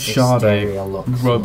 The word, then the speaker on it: Sade: What It's pronounced Sade.